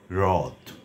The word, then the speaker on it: হ্রদ: যদি হ এর সঙ্গে রফলা যুক্ত থাকে তাহলে তার উচ্চারণ ইংরেজি আর এইচ আর এইচ এ আর এইচই কিংবা আর এইচ আই এর মত হবে আমি কটি শব্দ বলছি